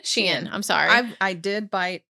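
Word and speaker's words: Shein: How do you say it? Sheen. Sheen.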